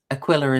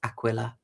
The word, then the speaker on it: Aquilla: Apologies, saying it's um Aquilla is not pronounced a. It's not Spanish Mexican. It's Latin. So, it's Aquilla.